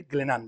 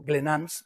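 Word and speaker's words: Glénan: en el archipiélago de glenan digo glenan porque está aquí Jean franois que si digo glenans me va a decir que la s no se pronuncia es glenan eh es plural porque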